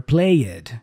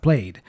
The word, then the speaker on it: played: So instead of worked, learners go worked or played instead of played.